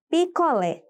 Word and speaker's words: picolé: Aqui também está super fácil de identificar a sílaba tônica. Afinal, eu tenho uma palavra com acento agudo. Portanto, lé será a sílaba tônica.